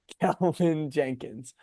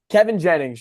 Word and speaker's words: Kevin Jennings: Kelvin Jenkins. Kevin Jennings, guys, that's the guy's name.